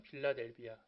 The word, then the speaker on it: 빌라델비아: 도시의 이름이 필라델피아가 됩니다 미국의 도시 일은 필라델피아가 아니라 그 지역 자체가 원래 이제 필라델피아인데 성경에서는 빌라델비아 발음차인 거예요 그래서 빌라델비아라는 이름이 그때 제